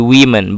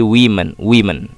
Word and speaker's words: women: And the next point, the difference in the pronunciation of woman, ya, seperti saya jelaskan tadi, ada perbedaan pengucapan kalau wanitanya satu dengan wanitanya lebih dari satu. Kalau cuma satu wanita, bacanya woman. Tapi kalau lebih dari satu, misalnya sini menjadi women, bukan woman ya, tapi menjadi women.